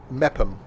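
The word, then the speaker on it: Meopham: there that place m-e-o-p-h-a-m that's where we're going mepham okay it's the place i'm not running from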